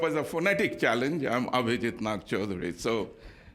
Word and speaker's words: Abhijit Nagchaudhuri: But if you want to take it up as a phonetic challenge, I'm Abhijit Nagchaudhuri.